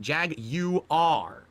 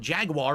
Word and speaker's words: Jaguar: Logo is Jaguar, emphasizing the British pronunciation Jag-U-R. Get it? It's not Jaguar or Jaguar, it's Jag-U-R.